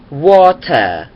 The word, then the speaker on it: water: แบบ British English ก็ Water Water เพราะ ว่า British English เนี่ย แบบ อังกฤษ เนี่ย เรา จะ ไม่ เน้น ตัว R สัก เท่า ไหร่ แต่ ถ้า เกิด ว่า